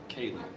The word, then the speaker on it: Kaylee: We named my daughter Kaylee. Mhm. Spell it K-A-Y-L-E.